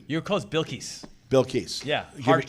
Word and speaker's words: Bilkis: Bilkis.